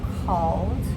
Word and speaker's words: called: Okay, so how about call? Called. Still 1 syllable.